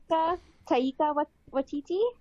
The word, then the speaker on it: Taika Waititi: director is, make sure I say his name right, Taika Waititi.